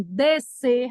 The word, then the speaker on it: descer: se o S é mudo, como é em piscina, como é em nascimento, como é em descer, não é descer.